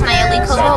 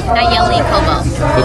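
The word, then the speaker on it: Nalleli Cobo: My name is Nayeli Kobo. It's spelled Nalleli, Kobo, C-O-B as in boy, O. And pronounce it for me one more time. Nayeli Kobo.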